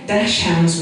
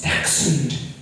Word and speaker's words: dachshund: So long, cause it makes me blue to hear the word pronounced so wrong. Dash hounds we ain't, it's dachshund.